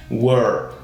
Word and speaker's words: were: de a fechado né E no final você vai mudar e colocar apenas esse som de R meio caipira né were were tá então é bem